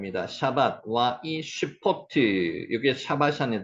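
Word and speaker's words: שבת: 샤밧, 샤밧. 요 단어 중요합니다. 샤밧. 요 짝대기는 요 둘 다가 아 발음이라 그랬습니다. 샤밧, 샤밧. 샤바트 해도 상관없는데 샤밧을 밑으로 끌어붙이는 게 나을 것 같습니다.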